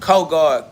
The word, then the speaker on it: co-God: It's pronounced co-God. Co, as in cooperate, communicate, co, meaning together. I am God. I am co-God means I am with God. Co means with.